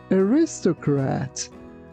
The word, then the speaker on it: aristocrat: Here be careful not to pronounce it like aristocrat. It's aristocrat.